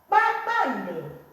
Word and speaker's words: kpakpando: Papando. KPA. Pa, right? Papando. Papando. Say that again.